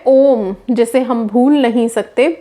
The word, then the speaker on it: ओम: सी बात है कि ओम को प्रोनाउंस करने के लिए कोई हमारा जीभ या तालू टकरा नहीं रहा जैसे कि हम किसी और शब्द को बोलने के लिए इस्तेमाल करते हैं ओम हमारे अंदर से